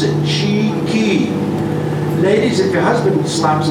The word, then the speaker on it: chickee: build by the Seminole Indians that's how you pronounce it cheeky ladies at the hospital slaps on together buddy